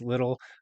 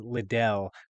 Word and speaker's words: Liddle: So you mentioned my name is MarQuese Liddle. Unfortunately, it's not as fancy as Liddell, though that's how everyone pronounces it.